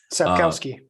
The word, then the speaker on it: Sapkowski: author, and I'm not going to try to pronounce his name. Sapkowski.